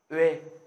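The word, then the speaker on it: ㅙ: Nguyên âm O mà cộng với nguyên âm E ạ. Đấy. Thì trong tiếng Hàn các bạn sẽ phát âm nó là Uê.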